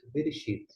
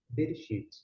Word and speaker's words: Bereshit: alguns chamam de Sefer Bereshit, outros chamam de Sefer Bereshit. Percebeu que o E foi pronunciado ora aberto, ora fechado?